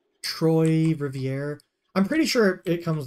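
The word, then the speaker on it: Trois-Rivières: Montreal to is it TR Rivier somebody told me how to pronounce it before it's like Troy but Troy Rivier I'm pretty sure it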